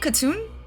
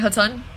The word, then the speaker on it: Khatun: Yeah, Khatun? Okay, real crap, it's Khatun, okay.